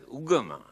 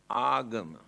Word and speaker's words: agama: Here now they pronounce it as ugama, but the original word is agama.